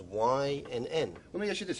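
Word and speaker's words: Wynn: y n n and it's pronounced like the letters Y and N let me ask you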